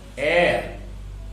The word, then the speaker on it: heir: Like that, heir, H-E-I-R, heir. Here, the word is beginning with H, but H is silent here. And the word is beginning with vowel sound.